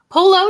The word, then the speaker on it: Polo: Polo, just like the game or the shirt.